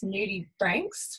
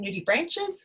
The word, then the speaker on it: nudibranch: A lot of people refer to sea slugs as nudibranchs, which is not technically correct. We're still, some people call them nudibranches, which is the incorrect pronunciation, because nudibranch comes from Latin.